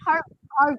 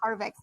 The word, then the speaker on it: Harvey: Oh, it's Harvey. It's not Harvex.